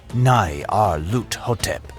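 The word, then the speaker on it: Nyarlathotep: The director of the museum pronounced it as Nai Ar Lut Hotep.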